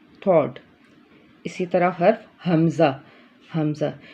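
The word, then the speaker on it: ہمزہ: इसी तरह हर्फ हमज़ा, हमज़ा ये भी हुरूफ हलकी का हर्फ है और ये भी हलक के ऊपर वाले हिस्से, सॉरी हलक के नीचे वाले हिस्से से इसको हम अदा करेंगे। Pronounced from the bottom of the throat.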